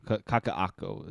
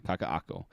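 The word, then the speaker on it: Kakaʻako: uh this first screen here is of Kakak kakaako is the pronunciation there kakaako so this is where I now live this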